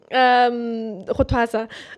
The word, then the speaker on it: Xhosa: Yes, Xhosa.